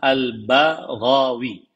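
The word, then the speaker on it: al-Baghawi: rahimahullah albaghawi nama beliau jadi membacanya adalah albaghawi bnya dikasih harakat fathah gnya juga di harakat fathah nama beliau adalah alhusain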